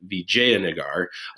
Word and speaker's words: Vijayanagar: by the kingdom of Vijayanagar, that's how you pronounce that, Vijayanagar, which established in the mid 14th century and continued on until about 1565.